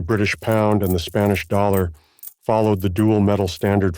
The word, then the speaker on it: thaler: dollar so the word dollar originates from the German word thaler in low Saxon this is pronounced as dollar which means of the